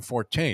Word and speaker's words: Forte: didn't like I believe they pronounced the horse's name Forte it's not named for uh Frank Ford I think it's like